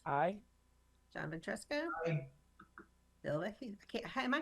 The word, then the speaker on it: Vecchio: Bill Vecchio. Am I pronouncing your name wrong, It's Bill? Vecchio.